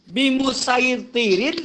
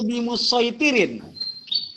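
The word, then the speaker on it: بِمُصَيْطِرٍ: Jadi bacanya pakai so atau sa? Boleh dua-duanya.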